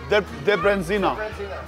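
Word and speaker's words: Debreziner: How do I pronounce the hot and spicy one? I've never heard of that. Debrenzina.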